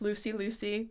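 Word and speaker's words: Looseylewsy: plug my YouTube channel it's pronounced Lucy Lucy but spelled l-o-o-s-e-y-l-e-w-s-y oh okay that's kind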